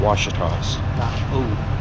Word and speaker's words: Ouachita: kind of different finally in the wash toss pronounce it right yeah Ouachita oh oh wash tubs and there's somebody special